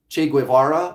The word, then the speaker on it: Che Guevara: Guevara I think is how you say it Che Guevara oh yeah he's popular and cool yeah Che